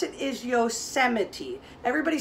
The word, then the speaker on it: Yosemite: everybody say the word yosemite it looks like yosemite but the way we pronounce it is yosemite everybody say yosemite that is a famous famous national park up